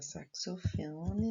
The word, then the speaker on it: saxofone: A palavra saxofone na apostila tá faltando um X. Porém, lê como se fosse o C e o S.